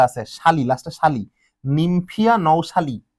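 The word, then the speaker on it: nouchali: তোমার শালি শাপলা তোমার শালি এর বৈজ্ঞানিক নামে দেখো লেখা আছে শালি লাস্ট শালি নিমফিয়া নওশালী আসলে নওশালি তোমরা শালি বলবা কোন সমস্যা নাই উচ্চারণের উপর মার্ক নাই মনে রাখবা শাপলা তোমার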